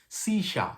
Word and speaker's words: Saoirse: to pronounce it but i was thinking saul had sausage like it's i mean it's s-a-o-i-r-s-e you know or something like that but it turns out it means si sha that's how you pronounce it something like this yeah